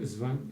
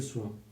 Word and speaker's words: Swann: que tenía que decir, habría pronunciado Svan en lugar de Swan. Cambio que, como se dio cuenta poco más tarde, era peyorativo, porque convertía ese nombre de origen inglés en un nombre alemán.